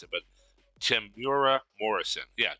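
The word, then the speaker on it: Temuera: I was close well I don't have to pronounce it but Tim bura Morrison yeah Tamira Morrison if he comes if he you know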